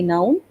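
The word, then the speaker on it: nous: nu even i can play with no because n o u s is the spelling and s we don't pronounce so even i can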